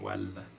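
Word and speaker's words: وَالْ: Ça vous donne wa, et le al, ça vous donne wal.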